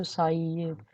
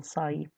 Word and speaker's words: psi: ठीक है, इसको psi प्रोनाउंस करते हैं, psi।